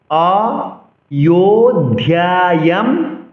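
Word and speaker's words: অযোধ্যায়াম্: অয়ো অন্তস্থ জকে ইয় উচ্চারণ করতে হবে। অযোধ্যায়াম বলা যাবে না, অযোধ্যা বলা যাবে না, যেহেতু আমরা সংস্কৃত উচ্চারণ শিখছি।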